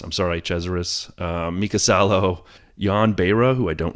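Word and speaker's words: de Cesaris: amen Roman grosjeans Stefan Johansson Eddie cheever Andrea de crasheris I'm sorry chezaris mikasalo yonbera who I don't know Jan Pierre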